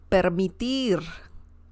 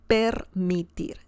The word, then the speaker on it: permitir: Permitir. A lot of R sounds there. So it's a good idea to practice the pronunciation. Permitir.